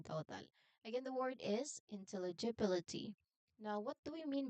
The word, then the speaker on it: intelligibility: word so please um listen carefully again intelligibility how How many sounds are you listening? There are how many syllables? In there are seven syllables in total. Again the word is intelligibility.